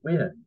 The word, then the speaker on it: Nguyen: Viet Thanh Nguyen spelled Nguyen, but not, according to MPR, Nguyen, which is usually pronounced with that way, is pronounced Win, W-I-N.